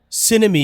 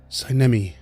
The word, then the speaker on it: Cami: well that's just H cemi you say your name is Cami yes emphasis on the wrong salabo my apologies I get